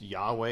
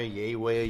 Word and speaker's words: Yahweh: but it's yhwh right it's Yahweh yay way yayah like depending on how you want to pronounce it but it's a whole